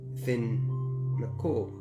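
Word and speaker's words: Fionn mac Cumhaill: it like you know fion Mick come Hal is actually fin Nicole and so you know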